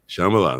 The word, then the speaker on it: Shambala: And, am I pronouncing that right? Yeah, that's right, Shambala. Yeah. Shambala, the emphasis on the right syllable.